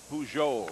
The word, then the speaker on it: Pujols: So the first baseman, Pujols, I believe normally that J would be silent, but I think he does give pronounce it a little, yeah, Pujols, huh?